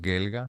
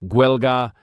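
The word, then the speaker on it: Gaeilge: En el dialecto de Ulster lo llamarías el idioma gaélico, pero en el sur lo llamaban mucho más gelga. Huelga.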